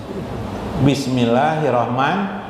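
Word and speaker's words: بسم الله الرحمن الرحيم: Bismillahirrahmanirrahim. Jangan nirahim lah, nirahimnya ada dahimnya.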